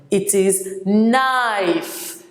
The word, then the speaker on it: knife: silent it is connive it is not connive it is knife the king is silent it is so it becomes knives and